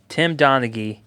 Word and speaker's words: Tim Donaghy: Tim Donaghy.